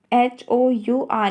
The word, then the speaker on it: hour: आर जो है हमेशा HOUR में एच साइलेंट होता है.